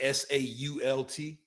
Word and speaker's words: SAULT: So I think it's like SAULT.